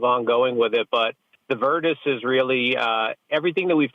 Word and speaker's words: Virtus: me about I guess the other words it virtus is how you say that yeah so the